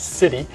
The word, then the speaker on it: SITI: spam in the inbox we abbreviate Siti and pronounced City uh and that's a